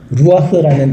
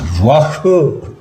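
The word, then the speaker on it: רוח: 구약 성경에서 성령을 뜻하는 히브리어는 루아흐라는 단어를 사용해요. 또 신약 성경에 그리스는 푸뉴마라는 단어를 사용합니다. 히브리어 뭐라고요? 그렇죠. 루아흐 루아흐라고 그래요. 독일어 발음 히처럼 그래 루아흐 그렇게 말하는 거예요. 신약의 그리스는 뭐요?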